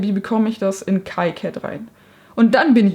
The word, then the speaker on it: KiCad: Heißt es KiCad oder heißt es KiCad? Also ich glaube, nachdem die ursprünglichen Entwickler Franzosen sind oder waren, ist wohl KiCad eher die richtige Aussprache. Ich war bisher immer bei KiCad, mal gucken, wo mein Gehirn hängen bleibt.